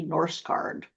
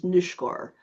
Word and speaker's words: Norsgaard: that time period and he always pronounced it in this country Norse guard. which I know is not the the Norwegian um saying of it. Uh my mother said that his pronunciation originally before he moved was nushkor.